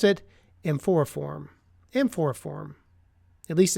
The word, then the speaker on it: amphoriforme: So I'm going to guess and say that it's mycoplasma amphoriform, AMPHORIFORME, or maybe it's amphoriforme. I don't think so. Usually you don't pronounce the E at the end of a name, except my wife's last name.